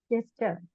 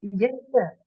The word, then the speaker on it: gesture: Gesture. Gesture. Gesture. Very good. Gesture. Very good. Okay. So ഇവിടെ G ആണ് എന്നുണ്ടെങ്കിലും G ക്ക് പൊതുവെ phonetic sound G ആണ്. It is not gesture, it is gesture.